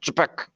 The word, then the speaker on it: Čapek: I think it's pronounced Čapek, but I'll double check on that.